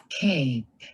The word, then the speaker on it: cape: Something happened to the A. Cape. Oh, wow. The short A turned into a long A. That's kind of cool. The silent E did that.